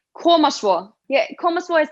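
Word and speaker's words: Koma svo: We say komaswo. Yeah, komaswo is like when you're like watching someone play sport, you go like komaswo or something like that.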